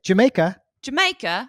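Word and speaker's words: D'yer Mak'er: There's a Led Zeppelin song that's spelled D''Yer. D''Yer. Dear. Maker. Dear Maker? Right. That's how I grew up saying, why is this song called Dire Maker? In a British accent, you'd say Jamaica.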